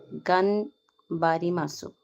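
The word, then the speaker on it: がんばります: It's pronounced gunbar masu and it means trying your hardest to achieve an objective.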